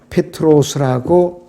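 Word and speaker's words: Πέτρος: 베드로라는 말과 같은 뜻이에요 헬라어로는 페트로스라고 발음을 합니다 페트로스 자 그런데 예수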